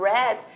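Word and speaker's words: read: aí eu leio Rex Porém Aqui é outra escrita outra transição mais a mesma pronúncia de vermelho então não confunda quando alguém estiver falando Red dependendo de como essa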